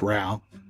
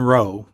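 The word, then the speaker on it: Rowe: pronounce it ro r-o-w-e some people say it's rao herman roe is how i pronounce it he was selected as the architect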